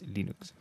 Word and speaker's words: Linux: My name is Linus, and I pronounce Linux as Linux.